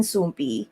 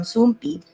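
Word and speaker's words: Soompi: So you spell it as SOOMP exclamation point. So it looks like an I.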